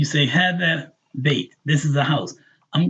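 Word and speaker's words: بيت: If you write it like the word bait, like would you catch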